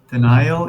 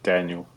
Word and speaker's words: Daniel: Denial, is that how I'm saying? I'm saying it right? Denial? Just Daniel. Daniel. It's just spelled weird, but it's normal.